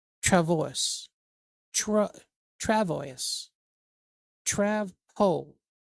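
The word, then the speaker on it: travois: Travo. Tra. Travo. Travo. The S isn't pronounced. Okay. It's a Tvo.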